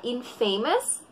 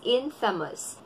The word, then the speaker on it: infamous: tinatawag kang, hindi siya infamous, but it's pronounced as infamous. Infamous. Infamous. Hindi siya infamous, kundi infamous.